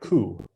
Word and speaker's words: coup: so good and then because it's french the p is is silent silent p it just sounds like coup like cool good solicitation is asking